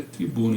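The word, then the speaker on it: трибуна: 80, e só aproveitando aqui, já chequei, arquibancada é tribuna em russo, se pronuncia tribuna, então meus ouvidos estavam muito bons.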